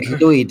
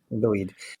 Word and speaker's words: Lwyd: It's the Mary Lwyd is how you'd probably say it. Lwyd? Lwyd. Yeah. W in Welsh is basically can be a consonant, but it's also a vowel, and it can have